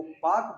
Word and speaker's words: Palk: पाल्क नाम का एक अंग्रेज अधिकारी हुआ करता था, उसी के नाम पर इसको उच्चारण में पाल्क को पाक बोला जाता है, उसके नाम पर है।